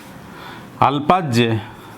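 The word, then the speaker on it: अल्पज्ञ: अल्पज्य, इसका हो जाएगा बहुज्य। अल्पज्य का बहुज्य। आप इसे ज्ञा पढ़ते हैं तो वह उच्चारण शुद्ध नहीं है।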